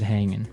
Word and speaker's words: hanging: But usually you don't really pronounce the G in this context cuz it's very informal. So, how's it hanging? How's it hanging?